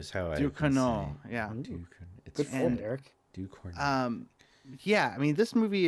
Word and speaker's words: Ducournau: Ducournau.